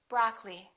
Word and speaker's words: broccoli: preference temperature temperature broccoli don't say broccoli say broccoli diamond diamond laboratory don't